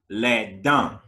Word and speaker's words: dents: The T and the S are all silent. Les dents.